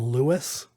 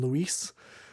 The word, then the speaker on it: Luis: for the voice acting just didn't know the difference between Lewis and Luis. But all of the, it's spelled Luis and everything, and the subtitles and all of the notes. But just everybody in the game calls him Lewis.